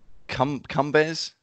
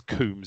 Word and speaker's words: Coombs: Well, it was Coombs. It was pronounced Coombs, not Cumbers. Coombs.